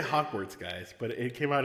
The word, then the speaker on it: Hogwarts: say i can't remember how to say the word hogwarts not hogsworth hogwarts you're right yamas i was